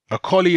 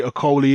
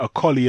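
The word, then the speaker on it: Okolie: rather than Macaulay because it's Lawrence or Kali a collie is how you pronounce Lawrence Akalis surname properly okay I know even Lawrence himself will say oh Kohli and he will use the English at anglicized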